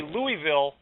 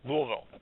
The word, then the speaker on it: Louisville: so pass the Louisville if you say Louisville they're gonna know you're a Yankee Louisville two syllables anyways 450 miles that's